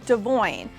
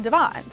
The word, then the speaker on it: Devon: Drew and Nessa were calling him Devoyne. So that's actually how you say his name. However, Brianna and her family call him Devon.